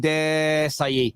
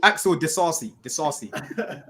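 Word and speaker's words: Disasi: Yeah, he just started off and he realized he didn't know how to say his name and he just went Desai. It's Axel Desasi.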